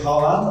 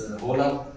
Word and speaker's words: Haaland: Everybody's saying Haaland. I think it's wrong, right? Yeah, you know, in Norway, we say double A is O, so it's Haaland. Yeah. You know, out in the real world, it's Haaland.